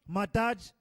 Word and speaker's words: Madai: Madai, pronounced Madaj, Greek Medos, is the